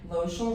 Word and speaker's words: Lochel's: and it's social and I always say lotion rhymes with social and I'm like the